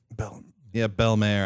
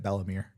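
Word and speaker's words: Bell-mère: I read it, and I read it Bellamere, so I don't care how it's pronounced. I think it's supposed to be Belmare because I'm pretty sure it's just literally just French for beautiful mother.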